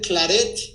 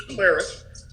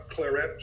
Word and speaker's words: claret: Okay, so tell me about the claret from Raimi. Your second pronunciation, Eduardo, it's claret. Claret. Not claret or claret. It's an English word. It's not a French word.